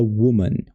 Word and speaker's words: woman: Quando é singular, a gente fala woman, woman, woman, u. Somzinho de u assim, né? Meio que um sonzinho de u.